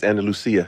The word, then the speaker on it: Andalusia: Andalusia, you from Spain is Andal Lucia.